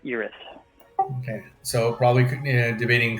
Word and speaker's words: Iris: Yeah, Iris, like Erie, but Iris.